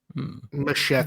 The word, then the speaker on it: Muschietti: Machet. I've always said it's musheti, but I could be wrong. Machete. Both are acceptable.